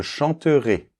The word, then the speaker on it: chanterais: les terminaisons, donc je chanterais, d’accord ? Alors ici, le -AIS doit être assez ouvert, théoriquement, mais suivant les régions en France, on a tendance à le fermer un petit peu.